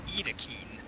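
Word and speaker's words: Yttakin: It's pronounced E-E-T-A-K-E-E-N, so it's Edakeen.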